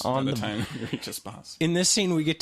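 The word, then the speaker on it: Espace: He says, I'm on the verge of tears by the time we get to Espas, which is spelled E-space.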